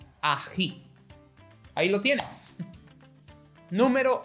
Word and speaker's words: ají: So, do you know the word loch as in lake for Scottish? Well, try that sound, loch, ají.